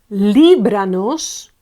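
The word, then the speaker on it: líbranos: tilde on o okay e libranos libranos Li is the accentuated one and it's the the one before the on the penultimate one the anti-penultimate okay so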